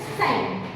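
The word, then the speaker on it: sign: हैं कैसे जैसे कि एस आई जी एन तो यहां पर जी साइलेंट है तो हम कैसे बोलेंगे इसको साइन कैसे बोलेंगे साइन उसी प्रकार से हम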